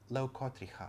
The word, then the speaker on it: leucotricha: So, this is uh leucotri ha c h yellow leucotricha, I think, would be the proper way to pronounce that.